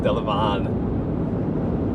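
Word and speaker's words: Delavan: I call it Delivan. I just know other people have pronounced it Deivon.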